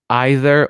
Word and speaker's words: either: Правильно, probably or probably? Both. Either or either. It's both. It doesn't matter. It's your personal preference.